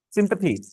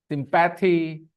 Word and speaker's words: sympathy: Yeah, sympathy, the pronunciation is sympathy. Yeah, आदत पड़ी हुई ना क्या? sympathy, because PATHY, अच्छा CATHY क्या थी, तो PATHY पैथी, allopathy, होम्योपैथी, sympathy.